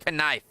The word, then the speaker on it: knife: knife you know uh the K actually used to be not silent when it comes to words like that yeah it actually used to actually be pronounced kif and kite and Canó like Canó step carefully